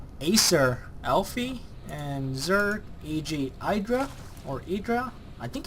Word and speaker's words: IdrA: or idra i think it's idra i've been saying aedra all along and now i certainly say idra yeah i forgot i'm gonna keep calling him idra because i think that is the right pronunciation anyway he is from